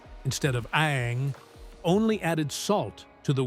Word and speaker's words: Aang: The film's mispronunciation of character names, Ong instead of Aang, only added salt to the wound for fans.